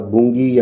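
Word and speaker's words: Bangui: उसके बाद बुंगी या फिर इसे बुगाई भी कहते हैं जो मध्य अफ्रीकी गणराज्य में है।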